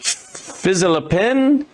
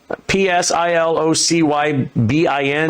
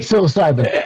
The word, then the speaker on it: psilocybin: Uh fizzilopen. P S I L O C Y B I N. Oh anyway. Psilocybin.